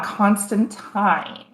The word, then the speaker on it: Constantine: everything actually constantly because it's originally constant time just like valentine's day um he has like